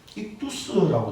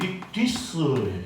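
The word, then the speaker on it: ἰχθύς: 5,000명을 먹이신 이적에서는 물고기가 익두스라고 되어 있어요. 예, 이걸 정확하게 표현하면 예, 이러거든. 이게 헬라어거든요. 예, 요게 유자 같이 생긴 게 위 발음이에요. 그러니까 정확하게 표현하면 익디스예요. 익디스. 예.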